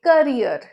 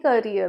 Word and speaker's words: career: ज़्यादा लोग कहते हैं career, but actually it's not career, it's career या career। जो R-E-E-R है, उसके एंड में जो R है, पहला तरीका है कि वो साइलेंट रहेगा, जैसे मैंने फर्स्ट बताया career, career। और दूसरा तरीका क्या है, वो साइलेंट नहीं रहेगा बट उसका साउंड बहुत माइल्ड रहता है, career।